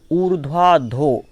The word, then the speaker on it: ऊर्ध्वाधो: ऊर्ध्वाधो, जो वा के रा की रकार है उसको आगे बोलना है और धा के पहले बोलना है।